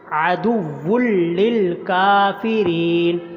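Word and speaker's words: عَدُوٌّ لِّلْكَافِرِينَ: اوپر کھڑی زبر ہے۔ عدو للکافرین، یہ بھی لفظ مشق کے قابل ہے، اچھی طرح سنیے، سمجھیں، مشق کریں، مجہول نہیں پڑھنا اس کو۔ عدو للکافرین، کاف کو لمبا کرنا، کاف کے اوپر کھڑی زبر ہے اور را کے نیچے زیر آگے یا آ رہی ہے تو را کو بھی لمبا کرنا ہے۔ وَلَقَدْ أَنزَلْنَا، انزلنا کے نون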